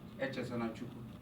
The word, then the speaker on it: Echezonachukwu: And I said, "Echezonachukwu."